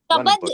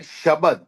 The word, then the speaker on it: शब्द: उसका मतलब होता है वर्ड शब्द इज द करेक्ट एंड शब्द इज द करेक्ट उसकी प्रोनंसिएशन है शब्द मतलब जो एक